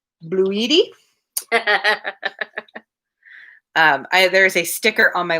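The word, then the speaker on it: bluidy: He spelled it B-L-U-I-D-Y. It's very important that you pronounce that correctly. Bloody. Bloody. Bloody. Bluedy.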